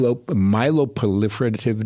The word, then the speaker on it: myeloproliferative: It's called it's a myeloproliferative disorder. That's a lot of syllables. Say that again. Myeloproliferative disorder. So, myeloproliferative? That's correct. Like prolific? Yes.